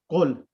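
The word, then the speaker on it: قل: whenever there are two, there's a ruling of in tajweed as well, iltiqa'i sakinain, when there are the two silent letters together, and one of them is a weak letter, the weak letter is omitted, so it becomes qul.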